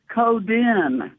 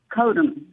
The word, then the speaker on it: Coden: I'm just saying that my grandfather, the great fisherman, among other things, he made the fishing nets, um he pronounced it coden, not koden.